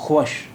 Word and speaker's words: خوش: अब ये वाव नहीं बोला जाता है, इसलिए ये लफ्ज़ है खुश, खुश।